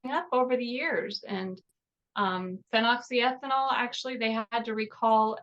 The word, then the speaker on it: phenoxyethanol: And so if anybody wants to look it up, it's spelled PHEN, phen, oxy, OXY, ethanol. So phenoxyethanol.